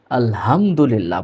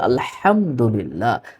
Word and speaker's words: আলহামদুলিল্লাহ: এখানে আমরা অনেকেই ভুল করে থাকি। আলহামদুলিল্লাহ পড়ি। না, আলহামদুলিল্লাহ নয়। এর শব্দটা হবে আলহামদুলিল্লাহ। আলহামদুলিল্লাহ।